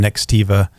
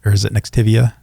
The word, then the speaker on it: Nextiva: Ring Central is one, and then Nextiva is it Nextivia? Nextivia. There, Nextivia. No, it's Nextiva.